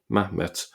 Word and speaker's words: Mahmet: Um here we have Mahmmet with just a single A there. Mahmet. So the hat has been uh dropped because it's silent following the Samaritan type of pronunciation.